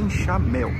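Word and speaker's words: enxaimel: tem o nome de enxamel você está pronunciando bem certo mas é ChaMel onde nós temos essas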